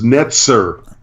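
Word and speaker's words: נֵצֶר: No, that word is netzer. It's a tzadi, not a zion.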